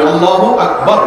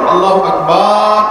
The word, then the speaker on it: আল্লাহু আকবার: আল্লাহু আকবার উচ্চারণ করার সময় আকবারের রাকে টেনে পড়া ঠিক হবে না? ঠিক হবে কেন? তাকবীরের সাথে বলতে হবে আল্লাহু আকবার, আল্লাহু আকবার, এরকম বলা যাবে না।